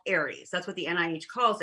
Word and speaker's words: Ares: And it's called Ares, A-R-E-S. And it's pronounced Ares as in the god of war.